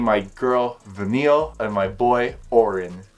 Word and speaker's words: Vanille: I want to name my girl Vanille and my boy Oren. Not vanilla, please, because it's hard to pronounce.